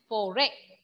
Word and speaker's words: forêt: See, in French, forêt, T will be silent since it is a consonant letter.